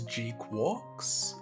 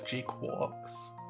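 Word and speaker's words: GQuuuuuuX: uh G pronounced as G quarks is how that's supposed to be pronounced apparently GQ uuuu X G Q u u x yeah it's apparently pronounced as G quars would be directed by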